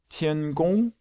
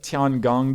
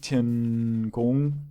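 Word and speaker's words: 天宫: I've heard people call it things like Tiangong before, and that is not how you pronounce Chinese. I'm not sure what tones that they are. Actually, I take that back. I'm pretty sure Tian is first tone, which means it's a straight across tone, because pretty sure that's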